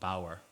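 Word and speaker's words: bodhar: how it's spelled, but it's actually pronounced bower.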